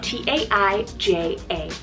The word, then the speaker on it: Taija: Number 8 on the list is Taija, spelled T-A-I-J-A, Taija.